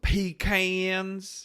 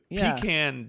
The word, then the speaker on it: pecan: empire i don't know i've always just said pecan i'd me too pee can just sounds ignorant it it does it